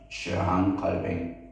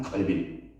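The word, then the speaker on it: Calvin: 요한 갈 프랑스 발음은 갈뱅 갈행 우리 영어 발음은 요한 칼빈 받았죠.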